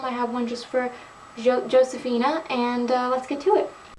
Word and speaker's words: Josefina: everyone, so today we're continuing the American Girl collection videos, and I'm doing my Josefina, or as it's supposed to be pronounced, Josefina collection.